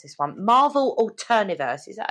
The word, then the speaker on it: Alterniverse: oh I can never pronounce this one Marvel alterniverse is that how you pronounce it say alterniverse alter yeah did I pronounce that okay good